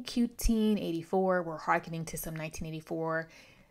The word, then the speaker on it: 1Q84: Yes, it is pronounced Q-Teen 84, not 1Q84. Again, a play on 1984 by George Orwell.